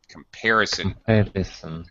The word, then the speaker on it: comparison: okay and also um pronunciation comparison comparison that's better yeah second syllable stress okay um very good